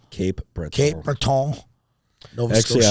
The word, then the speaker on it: Cape Breton: Camp Breton? Cape Breton.